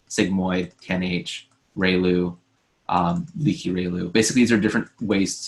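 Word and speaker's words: ReLU: steeper rail ooh a inverse tangent but then Rayleigh right here right this guy right here rectified linear unit which is pronounced riilu you'll see it basically zero and then one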